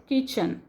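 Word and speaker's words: kitchen: walked away to द किचन किचन T silent he site word he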